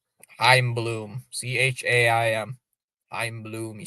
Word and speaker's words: Chaim: Time, no, time. That's how you spell it. Time. The C is silent. Chaim Bloom.